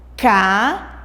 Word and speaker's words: caída: Caída. Vocês podem perceber que o i ela sai um pouco mais forte da nossa boca.